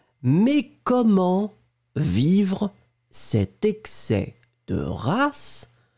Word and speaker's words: excès: On ne prononce pas le S final et vous prononcez vraiment excès. Excès, excès.